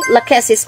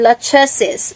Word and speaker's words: Lachesis: mo Ray I see laquis or lachesis Depende sa Bahala kayo sa pronunciation basta ganon la keses or lachesis Siya naman ang tag